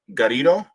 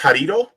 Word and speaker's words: Garrido: marks l gari garrido it's uh just think about it as burrito but with a G that's right Corrido okay is it in in Spanish is it pronounced harito no it's a Galileo